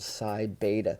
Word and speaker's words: Psi Beta: the psi beta actually i need to correct that it's actually called sai beta sai chai or kai